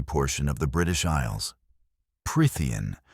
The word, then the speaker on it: Prythian: Prtheian, not Pritia, but Prtheian, and deceives everybody into buying her until she magically enslaves them.